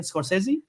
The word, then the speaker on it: Scorsese: Martin Scorsese. I think it's Scorsese. Martin Scorch. I never Yes, know how to yes.